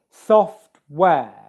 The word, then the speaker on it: software: be aware of here, the stress in this word is on the first syllable. There's two syllables in it. Software. The stress is on the first syllable. Software. Soft is louder, and it's produced with more force, and it's higher in pitch.